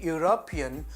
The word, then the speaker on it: European: When you say European, you pronounce it as though you pronounce you, that is Y-O-U.